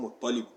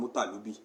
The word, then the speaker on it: Muttalib: ọmọ méjì gbòógì nínú àwọn ọmọ tí Abdul Manaf bí òun ni Hashim ìkejì ń jẹ́ Muttalib tá a máa ń pronounce lọ́dọ̀ wa ní Mutalibi.